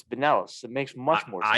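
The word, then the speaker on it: Binelas: It's nice they get Alex Bindloss too. Pinellas? Louisville. Is it Pinellas? Is that how it's Yeah, pronounced? Alex Pinellas.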